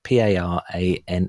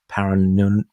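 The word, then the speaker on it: Parannoul: think the English translation roughly is parin I'll spell it p a r a n n o u l Paran Paran but it's I'm and that track was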